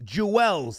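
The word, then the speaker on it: Juelz: Jewell's Jewels.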